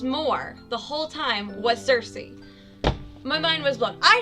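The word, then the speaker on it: Circe: not sure how pronounces i'm going to say cersei it's c-i-r-c-e cersei and she's like the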